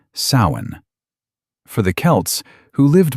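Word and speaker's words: Samhain: This night was called sin, spelled s a m h a i n, but pronounced sain.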